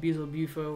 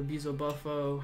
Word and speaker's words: Beelzebufo: And there's creatures and stuff that I've studied called Beelzebufo or Beelzebufo, however you want to pronounce it.